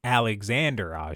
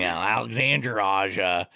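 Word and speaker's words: Alexandre Aja: AA uh film and alexand Ander aa oh sorry that was my bad pronunciation Alexander AA there uh who everyone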